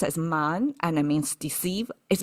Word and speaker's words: 谩: And The reason why we know it's pronounced as man and it means deceive is because it's paired with qi, which is another way to say deceive.